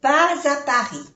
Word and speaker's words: pas à Paris: Sin embargo, aquí, pas. Normalmente no se le pronuncia la S, pero como le sigue una vocal, se hace la unión. Pas à Paris.